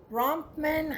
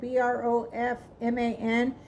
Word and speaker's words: Bronfman: was partners with Edward Bronfman, I think is how you say it, Brofman.